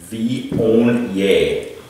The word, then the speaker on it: Viognier: That's how you say it. Viognier. Yeah, look at how it's spelled.